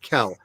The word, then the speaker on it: Kell: It's Nathan Kell. His last name, one syllable, Kell.